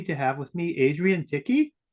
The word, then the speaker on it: Tichy: Today, I am happy to have with me Adrienne Tichy, rhymes with sticky, who has a crazy story, maybe even crazier than mine.